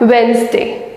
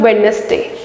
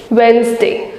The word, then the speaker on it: Wednesday: You have to replace the D with the Z and you have to pronounce it as Wednesday, not Wednesday. Wednesday.